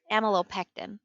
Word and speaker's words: amylopectin: since it's amylase it's amylopectin that's what i'm going to say because that's another that's a prefix that we have in other molecules but it's